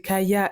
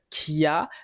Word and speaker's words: Khia: Et à skip mal prononcer Kaya et dire Kia, ça fait partie de